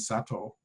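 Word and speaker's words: Satow: And I know many of you probably, when you hear Sato, you're going to say, well, no, it sounds like a Japanese guy. No, actually, he was an Englishman of German ancestry. His name is spelled S-A-T-O-W.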